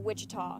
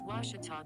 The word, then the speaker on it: Ouachita: university back in texas everybody pronounces it wichita but really it's ouachita washington washington how would you pronounce it it's washita baptist university get it right it's